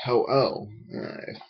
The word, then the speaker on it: Ho-Oh: being Ho-Oh I think my friends used to pronounce it says Ho Ho which I think used to bug me because uh it's perhaps Ho-Oh but you're like a fan